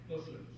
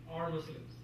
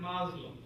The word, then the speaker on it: Muslim: all right this okay now you hear in the uh newscast uh radio as well uh people using the word maslo it's not uncommon and